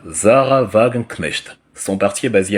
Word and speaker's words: Wagenknecht: Le parti de Madame Sarah Wagenknecht, en abrégé SW. En allemand, ça se prononce SV. Parce que le W en allemand, c'est le V.